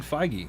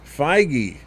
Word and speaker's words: Feige: determined and that's like kevin how do you pronounce his name i was looking up jd dillard uh kevin feige feige okay so kevin feige is also getting his